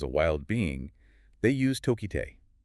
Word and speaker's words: Tokitae: wild being, they use Tokite. And I want to get this right. It's a Salish name. Yes. Coast Salish. It represents her roots in the Pacific Northwest. It's pronounced tokiti.